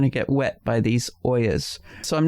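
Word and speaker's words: olla: get wet by these Oyas. So I'm not very knowledgeable about them. I'm very curious about them. And again, it's spelled O-L-L-A. Even though you're being fancy and saying Oya. Oya. Oya.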